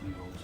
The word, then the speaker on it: griot: We have the tradition of griots and things of that, or some people pronounce it griots or whatever. It doesn't matter, it's all the same thing.